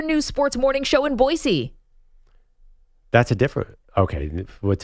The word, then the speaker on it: Boise: that matters there's a a pronunciation here that says boisey that's how you just pronounce Boise it's not Boise it's boisey so should I say